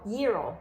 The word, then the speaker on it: gyro: the gyro spell g-y-r-o yero you don't pronounce the g and if you're in